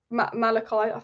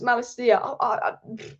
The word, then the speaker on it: Malacia: reliable outlet to Jamal Malachi. I've said his name wrong. Why have I said Jamal? Why have I said Jamal? Don't know. Tyrell Malachi, or someone said it's not Malachi, it's Malacia.